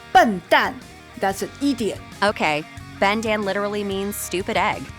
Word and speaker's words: 笨蛋: Bendan. 笨蛋. Bendan. 笨蛋. Bendan.